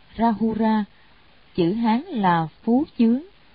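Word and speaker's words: Rāhula: Ngài La Hầu La, Ấn Độ đọc là Rahura, chữ Hán là Phú Chướng, là thái tử của Phật, ngài có đạo hạnh bí mật đệ nhất.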